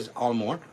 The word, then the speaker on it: Isle aux Morts: We say Isle aux Morts. Technically, it means Island of the Dead. There's a shipwreck and all of the dead people washed up on shore. So, the Isle aux Morts.